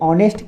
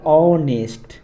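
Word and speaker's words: honest: लगाए, ये इसलिए लगाए क्योंकि उच्चारण देखिए, ऑनेस्ट का उच्चारण होता है ऑनेस्ट, ऑनेस्ट अ आता है ना, इसलिए इसके पहले एन लगा है।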